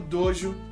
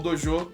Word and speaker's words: dojo: No dia em que Hakuji seria aceito como genro, casaria com Koyuki e herdaria o dojo, ou dojo, de novo, pronúncia, um rival envenena o poço da casa.